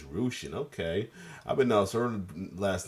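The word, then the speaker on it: Rushen: go on to coite still in love I pronounced her last name totally wrong I'm been saying Russian it's Rian okay I proun her last name completely wrong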